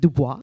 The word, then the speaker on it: Du Bois: him or Washington but how to actually pronounce his last name you know is it Dubois or is it Dubois right he said it's Du Bois um but the thing